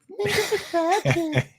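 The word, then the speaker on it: Minkah Fitzpatrick: Minka Fitzpatrick. No, That's actually the proper pronunciation, Jail.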